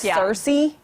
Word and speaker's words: Searcy: whose last name was spelled just the same, pronounced Circe. So I want to say Circe, but it's Circe. Yeah, it's Circe, Arkansas.